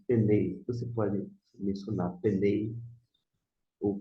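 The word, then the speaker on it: פני: Novamente, al, e aqui está ali na pronúncia, penei. Você pode mencionar penei ou penei, fique à vontade.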